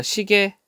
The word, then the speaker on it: 시계: 그러니까 시계 원래는 이렇게 발음해야 돼요. 그런데 에 발음하는 것도 허용한다.